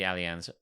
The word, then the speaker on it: Allianz: that perfect perfect moment in Munich at the Allianz Arena um said it right you did and